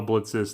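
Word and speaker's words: Blitzø: titular h a boss is Blitz spelled with a silent o he's played by YouTube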